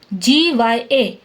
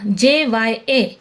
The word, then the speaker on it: ज्ञ: हिंदी में इसका उच्चारण ज्ञ GYA की तरह करते हैं, लेकिन संस्कृत व्याकरण के अनुसार ज्ञ दो व्यंजनों के मेल से बनता है। देखो, ज धन न्य धन अ। ठीक है, ज्य दो व्यंजनों से मिलकर बनता है तो इसका उच्चारण ज्य जैसा होगा, JYA। इसको हम ज्य बोलेंगे। इस नियम के अनुसार इसका शुद्ध उच्चारण ज्य JYA जैसा होगा।